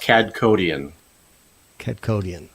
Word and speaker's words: Kadkhodaian: and Gene so that's how do you pronounce your last name it's pronounced CAD codian okay see I can